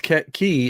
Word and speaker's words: Cay: if I ever go I'm calling it K and when they say no it's key I'm gonna be like